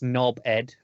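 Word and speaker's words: knobhead: two words there are most in England don't pronounce the H it's so it's knob ed like so it's just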